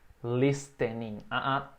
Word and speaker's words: listening: E aqui presta atenção que tem um T mudo aqui. A gente não diz listening. E sim, repeat. Listening. Listening to music. Mais uma vez, que essa pronúncia aqui tem que memorizar bem. Sem o T, né?